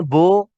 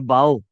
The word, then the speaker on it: bow: बो टाई भी होती है, जो जो टाई पहनते हैं गले में, जो छोटी सी टाई दाएं बाएं जा रही होती है। और बाओ, अच्छा उनका तलफ्फुज और स्पेलिंग्स वही है, जरा देखिएगा क्या फर्क है। स्पेलिंग्स वही है, BOW, बो टाई।